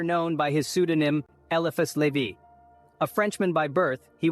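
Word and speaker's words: Lévi: a deep understanding of self-mastery was elus Levy pronounced as levie elus leevy a name that resonates with wisdom and mystery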